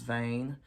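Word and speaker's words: Vane: about the fact that her last name is vain it's spelled v-a-n-e but it sounds like vain I love it and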